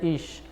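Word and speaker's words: אִישׁ: A palavra escrita em hebraico se pronuncia ish. E a mulher que vem do ish é a isha, né?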